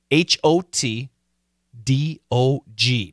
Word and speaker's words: hot dog: d o g yeah the American pronunciation hot it's a short o a a hot dog that's an a w now some Americans actually say hot dog like the same hot dog do you like